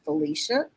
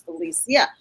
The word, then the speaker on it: Felicia: you want to be, Felicia? The old way of saying my name because I allowed that for so many years. But the real pronunciation of my name is Felicia.